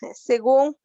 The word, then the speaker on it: según: Si yo divido la palabra según, voy a tener dos sílabas, se y luego gun. Última sílaba, penúltima sílaba. Y está acentuada en la última sílaba, por eso se llama aguda.